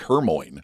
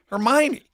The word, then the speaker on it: Hermione: The funny thing is, we didn't know how to say that word until the movie came out. I had never seen or heard of that name, Hermione, and it's spelled like Hermoine. So we were reading to our kids like we didn't say it right. And then the movie came out, and I think the whole theater went, "Oh, Hermione."